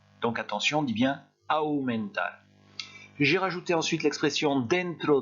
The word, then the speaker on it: aumentar: Ensuite, j'ai mis le verbe, attention à la prononciation, le verbe aumentar, j'ai exagéré la prononciation exprès. En français, ça veut dire augmenter. Et vous voyez la différence de prononciation qu'il y a entre AU en espagnol et AU en français. En espagnol, on a deux sons, AU, et en français, on a un seul son, O.